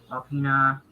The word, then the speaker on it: Alpena: going to cause major problems So here, Gaylord, Alpena, that's how that's how you say it.